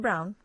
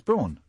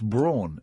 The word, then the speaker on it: Braun: Isn't it Brown? No, it's Braun. Don't you pronounce it Brown?